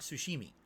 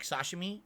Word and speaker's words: sashimi: Now, when I say this, I mean actual sushi, not sushimi. Like sashimi, or as I pronounce sashimi.